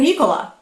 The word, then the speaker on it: Nicola: He goes, "It's Nicola." Like Coca-Cola.